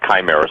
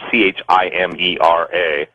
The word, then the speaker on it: chimera: this, but the word chimera, some people pronounce it chimera, it's pronounced chimera, chimera.